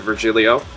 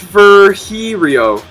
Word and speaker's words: Virgilio: You look winded, Virgilio. It's pronounced Virgilio.